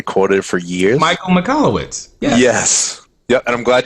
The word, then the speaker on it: Michalowicz: Michael Michalowicz. Yes. Yep, and I'm glad you pronounced that correctly, because I would have butchered that name.